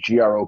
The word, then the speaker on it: Grok: It's G R O K. It's Gro. Now, if it was Gro, it' be G R O A K.